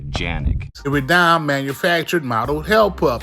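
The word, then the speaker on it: Canik: This is a gun made in Turkey, and in Turkey they pronounce the name of the gun Janik.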